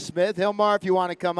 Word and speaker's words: Gilmar: So my name is Gilmar, with a G, but it's pronounced like if it was an H, because my dad's name